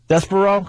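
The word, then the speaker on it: Despereaux: desper how do you say that Des deso despero cuz they spell d e s p r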